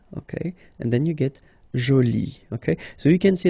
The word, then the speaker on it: jolie: at the end okay and then you get Jolie okay so you can see that you put this uh but then you don't pronounce it okay so it's Jolie so basically